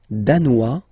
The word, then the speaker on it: danois: Le Danemark, danois, danoise. Z, okay, insist on that. Danois, don't pronounce the final S. Danoise, here you pronounce it.